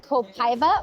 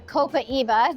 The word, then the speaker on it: copaiba: So this has an essential oil called copaiba or copaiba, depending on who you are. You can pronounce it either way.